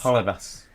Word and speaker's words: Holebas: What's Jose Halabas? Holebas.